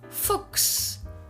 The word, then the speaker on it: Fuchs: There are some words in German that have the same special pronunciation. For example, the word Fuchs.